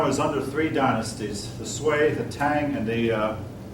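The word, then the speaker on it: Sui: the S Dynasty um sway pronounces that sway the sway Dynasty unified China I'm not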